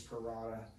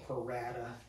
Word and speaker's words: pro rata: Anytime you talk about prorations, pro rata, or pro rata, if you want to pronounce it that way.